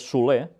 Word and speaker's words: Soler: Por su parte, y ahora lo diré como se pronuncia este nombre en catalán, es Soler, porque es un apellido catalán, aunque yo voy a decir Soler, porque seguramente quizás ellos